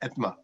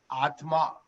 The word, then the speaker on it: Atma: some of the work in health informatics at ETMA. Actually, while I pronounce it in the anglicized version as ETMA, it is nothing but Atma, soul.